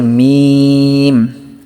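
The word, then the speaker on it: م: আর মিমটা উচ্চারণ হয় ঠোটের শুকনা অংশ হতে মিম উচ্চারিত হয়।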